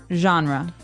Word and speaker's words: genre: We say genre. Genre genre. This kind of sounds French. Is it French? I think it comes from French.